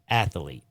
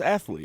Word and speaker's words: athlete: I say it's athlete. Spell it. Athlete. There's no A. And I say, because I'm a Southerner, athlete. Athlete. No, it's athlete.